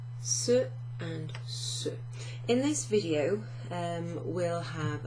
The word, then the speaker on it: ce: So if we look at the first one, this one here, C-E is pronounced ceux.